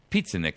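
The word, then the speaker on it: Pieczenik: Steve Piasnik. Pizzanik is how I always pronounce it.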